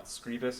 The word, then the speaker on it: Scribus: this is called scribus I'm actually told it's pronounced scribus but I'm going to call scous because I like to say it that way